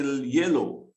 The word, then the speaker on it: yellow: So this one is like, you see the last letter here is W, but when you say yellow, the sound is silent. Okay, the sound is silent, so you still get the sound of the O, not the sound of the last sound is O, so the W is silent.